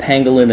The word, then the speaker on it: Pangolin: this uh that's the the logo it's called Pengalin it's spelled p a n g o l i